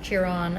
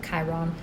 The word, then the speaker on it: Chiron: is the wounded healer we all have cheer on as some people pronounce it Chiron in our church somewhere